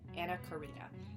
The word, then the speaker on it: Anna Karina: I believe her you pronounce Ana Corina, not Ana Corina. Yeah, Anna Karina.